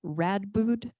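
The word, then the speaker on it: Radboud: researcher at ihub at is it rad boot University is that how you pronounce it in the Netherlands yes I'll go with her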